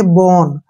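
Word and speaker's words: bone: एन ई यहां पर ओ के बाद एक कंसोनेंट एन आया है और एन के तुरंत बाद ई आया है तो यहां पर ओ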